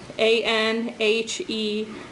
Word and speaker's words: anhedonia: And you have a word in here, and I'll spell it instead of pronouncing it. A-N-H-E-D-O-N-I-A.